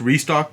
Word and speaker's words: Rexstock: incorporate that in here the x is like faded or in motion so it looks kind of silent so it's pronounced restock but spelled rec stock